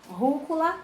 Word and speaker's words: rúcula: Rúcula tem acento na antepenúltima. Então, ela é proparoxítona.